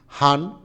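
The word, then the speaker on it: 半: হান অর্থ হলো অর্ধেক, ঠিক আছে। তারপর হচ্ছে বান লেখা হয়েছে, বাট হলো এটা হান উচ্চারণ হবে, অনেক সময় বান হয়।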